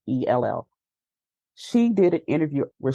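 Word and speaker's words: Uzzell: I think last name is pronounced Uzell, Uzell.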